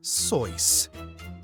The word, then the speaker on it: Seuss: word nerd Dr Seuss his last name is pronounced soyce Neil Armstrong stepped onto